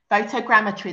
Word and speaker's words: photogrammetry: using a scientific system I've probably got this uh pronunciation wrong photogrammetry photogrammetry that's quite right yeah okay that this